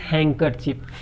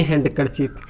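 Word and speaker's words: handkerchief: इसको जब डी के बाद अगर के आ जाता है डी को साइलेंट करेंगे, इसीलिए इसको फाइनली बोलेंगे हैंकरचीफ, ना कि हैंडकरचीफ।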